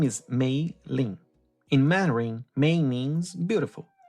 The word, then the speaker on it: Mei-Lin: It is not a complicated name. 2 syllables, Mei-Lin. The English language contains the word mailbox. It contains mainland. It contains mayonnaise. The sounds are there. The mouth already knows how to make them.